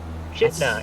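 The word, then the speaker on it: Chitina: Well, according to the weather cam, it looks good in Chatina right now. Chitna, as the locals say.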